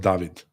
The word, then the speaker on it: David: My name is pronounced David, by the way.